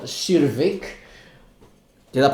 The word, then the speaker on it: Crvik: at the winery the water is called the cerevic did i pronounce it correctly almost yeah survey cervic is the last name of the wine makers